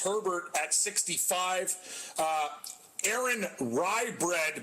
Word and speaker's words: Rai: uh aaron rye bread but it's spelt rai like ray watch out for him